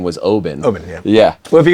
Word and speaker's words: Oban: me a bunch of stories about I say Oban you said the right pronunciation was Obin Obin yeah yeah well if you go to if